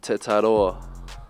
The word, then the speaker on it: Tetairoa: Tetairoa. That's wrong? Nah, I mean, I get close enough. Yeah, it's close enough. Close enough. Say it for us then so we can get it. My name is Tetairoa.